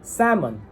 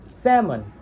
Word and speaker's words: salmon: The law here the sound law here is silent. The same goes for salmon. Salmon.